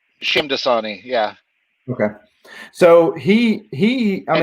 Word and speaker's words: Shamdasani: And so fast forward to 2012, and this consortium of sorts picks it up, and Dinesh Diasani, am I pronouncing his last name right? Shamdasani, yeah.